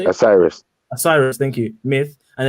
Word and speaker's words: Osiris: is it a rice how to say it osiris osiris thank you myth and a legendary fight